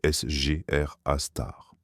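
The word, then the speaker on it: Sgr A*: Les astronomes l'appellent Sagittaire A étoile ou SR A étoile prononcé SR A star.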